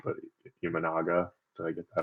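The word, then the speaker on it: Imanaga: And forgive me if I pronounce his name wrong, but Ianaga.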